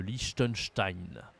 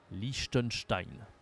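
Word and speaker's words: Liechtenstein: Belgique bien sûr le lichttenstein lichttenstein ok c'est une prononciation pas française c'est un pays allemand le lichttenstein le Vatican le Vatican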